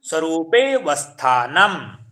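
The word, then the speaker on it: स्वरूपेऽवस्थानम्: जब हम संस्कृत में पढ़ेंगे तो किस प्रकार पढ़ेंगे, तदा द्रष्टुः स्वरूपे वस्थानम। तदा द्रष्टुः स्वरूपे वस्थानम्। जो आ का उच्चारण है वो थोड़ा क्या है, गुम हो जाएगा, मतलब प्लुप्त हो जाएगा हल्का सा।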